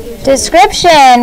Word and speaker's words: description: Description. Ready? Begin. D-E-S-C-R-I-P-T-I-O-N. Description. Sometimes it's that shun at the end. T-I-O-N says shun. It's one of those special sounds you learned in when you took phonics in kindergarten, first and second grade.